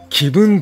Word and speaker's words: 紀文: 公式 twitter がね私です気分と読みますとっ対応して